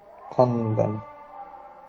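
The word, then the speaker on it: خواندن: ওকে দেখেন একটা টেক্সট করবো আমরা ছোট টেক্সট ঠিক আছে খন্দান খন্দান এখানে ওয়াওটা উচ্চারণ হবে না খন্দান।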